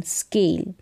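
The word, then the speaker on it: school: एस सी स्क एल स्केल स्क are scar स्क फिर और score score scarf स्क are scarf स्क यहां पर स्कूल यह जो एच है यह साइलेंट है स्कूल नेक्स्ट देखें एससी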